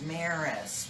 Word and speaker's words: Mares: It's Mares, rhymes with Paris.